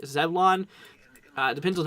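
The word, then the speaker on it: Zebulon: here towards coats uh let's go see zeblin or zeblin as z-e-b-u-l-o-n I think it's zevlon uh depends on how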